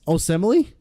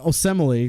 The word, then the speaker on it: Osemele: free agency signings is the Raiders trading Kalichi Osemele.